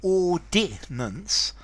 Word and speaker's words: ordinance: to ordain okay so a city ordinance three syllables um formality I would